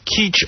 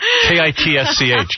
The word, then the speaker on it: kitsch: lot of my people are illegal it's called keach art what is it kitsch kids yeah i don't know how you pronounce that kitsch that's pee-wee's defense i've heard